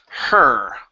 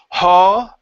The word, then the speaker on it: her: word her okay so instead of saying halt ok finish it off with that earth her her country home country there you go ok so and her school a horse or not ha her her oh ok so you're you're opening your mouth too wide did the marriage so